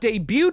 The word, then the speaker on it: debut: The prequel was directed by Arkasha Stevenson in her feature directorial debut, not debut because that T is silent.